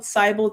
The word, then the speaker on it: Sibyl: Okay, so I would say also use this one called Cybal Tarot. It's spelled SIBYLTAROT, and that will help you like